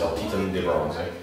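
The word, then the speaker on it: El Titán de Bronze: uh called uh in in English it's uh it's El Titan de bronze it means uh uh well in Spanish it's Elan De Bron uh or ETB for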